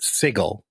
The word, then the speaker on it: Sigil: come down on the city's name is actually pronounced sigle you know this is very much a gif